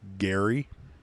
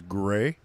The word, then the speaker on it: Grey: That's how you spell it. Great. Not to be mispronounced Gary or anything else. It is Gray. Like Grey's Anatomy.